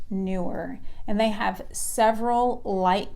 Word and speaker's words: Neewer: company they are called newer but it is spelled n ee w e R but it's pronounced newer and they have several